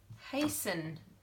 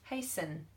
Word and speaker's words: hasten: okay hasten hurry up hasten means go faster and you can't hear the T hasten so if someone said